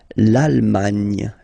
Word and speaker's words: l'Allemagne: L'Allemagne, l'Allemagne, okay?